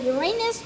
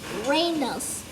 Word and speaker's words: Uranus: Its name pronounced either Uranus or Uranus.